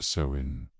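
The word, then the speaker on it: Samhain: Sain pronounced sewin was the most important festival in the Celtic calendar.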